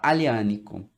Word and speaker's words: Aglianico: Se escreve Aglianico. Se fala Aglianico.